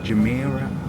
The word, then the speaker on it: Jumeirah: But we got off, and at least I showed you the Jumeirah, I've pronounced it right now, Jumeirah Beach Residence.